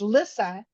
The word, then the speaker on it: Lissa: And then my sister's name is Lissa, but it's spelt like Lisa.